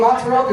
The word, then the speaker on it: mozzarella: Do you hear the two Z's in mozzarella? There's fucking two of them, just in case you missed the first one.